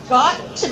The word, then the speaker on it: to: He says, again, you've got to be kidding. You've got to. Notice the reduced form of to.